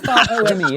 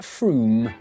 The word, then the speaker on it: Frome: Wrong, it's not Frome. Frome, it should be blitheringly obvious, is pronounced Froome.